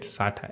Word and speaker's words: SATA: I don't know how to say it. Just say it SATA, S-A-T-A, okay?